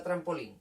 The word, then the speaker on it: trampolín: ¿Cuál es la que suena más fuerte? ¿Cuál sería la sílaba tónica? La última, ¿verdad? Que es la que lleva tilde.